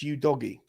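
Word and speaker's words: Udogie: pirate off the ball that's how you say it it's you doggy yeah but you doggy perfect you doggy here's your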